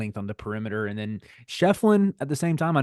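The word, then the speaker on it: Schieffelin: game and basically PJ Hall and am I pronouncing that correctly is it is it shyen it's shefflin shefflin okay my apologies uh they were just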